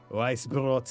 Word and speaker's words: Weißbrot: We got Weißbrot and Schwarzbrot. So white bread and black bread. That that weird looking B is pronounced like an S, right?